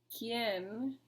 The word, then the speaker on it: quién: ¿Quién? Same thing with quién. I didn't separate quién because the U is silent and the I and the E make a strong vowel together, so they stay together.